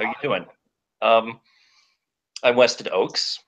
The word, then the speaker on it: Weston Ochse: how you doing I'm WestEd Oaks it doesn't look like it's it's pronounced that way but I promise you it is Harlan Ellison had a